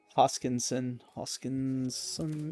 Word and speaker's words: Hoskinson: Hoskinson, 88.